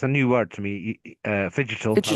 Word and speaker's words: figital: the discussion on how figital, combining the words physical and digital spaces The figital. Figital, oh figital, yes, better pronunciation, can actually enhance strategic